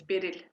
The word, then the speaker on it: Beril: Yeah, it's the Turkish version of Beryl, but it's just pronounced a bit differently. It's Beril.